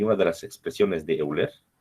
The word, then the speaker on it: Euler: Y una de las expresiones de Euler, o de Euler, no se pronuncia, decía lo siguiente: la carga crítica de